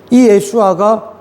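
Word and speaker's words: ישוע: 그 예수님의 원래 그 발음이 예슈아인데이 예슈아가 히브리어로 구원이란 뜻이에요.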